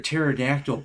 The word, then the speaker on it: pterodactyl: He was like, "Why can't you hear a pterodactyl pee?" And I was like, "Because the P is silent."